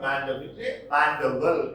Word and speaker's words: Mandeville: Sir Mandeville it is pronounced.